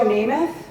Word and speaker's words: Namath: So I was reporting on Joe Namath.